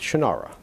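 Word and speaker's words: Shannara: different he's wrong it's shanara phonetically how it's spelled i don't know why he pronounces it different he has like extra syllables in it it's shinara and i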